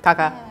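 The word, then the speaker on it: Kaká: yeah I feel like Italy was more just like Kaka cuz there an accent at the end so it's Kaka in fren it's a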